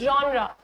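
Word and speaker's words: genre: This question what your जॉनरे of movie so what's ज्रा सो इट्स जॉन्रा इट्स नॉट जेनर और जॉनर और whatever it's जॉन्रा जॉन्रा इज़ a French word and इट्स C category of artistic कॉम्पोज़िशन।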